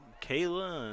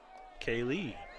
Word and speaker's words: Kayla: Some people call her Kayla, and some people call her Kaylee on the roster. It is pronounced Kaylee. But everyone knows her as Kayla.